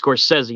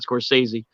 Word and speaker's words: Scorsese: there and he's and he corrected me on his how he say his last name apparently his course says he not scorsese but he doesn't he